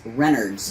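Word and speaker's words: Renard's: It's Renards.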